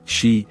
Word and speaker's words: Sidhe: The Irish Sidhe, pronounced she, and Scottish Sith, are examples of such beings.